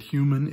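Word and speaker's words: Hueman: Another one that I found, the tutorial, he pronounces it human.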